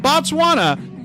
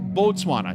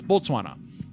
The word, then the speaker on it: Botswana: not No, it's pronounced Botswana. Yes, that's what I've been saying. in B. I haven't been. It's not Batswana. It's Botswana.